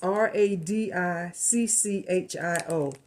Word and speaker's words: radicchio: sprouts, and I don't know how do you pronounce that. Can you see that? It's Radicchio.